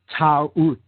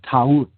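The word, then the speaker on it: Taurt: Or Ta'ut, she was called in older Egyptian tradition. Ta'ut, T-A-U-R-T, Ta'ut. Now, in other traditions in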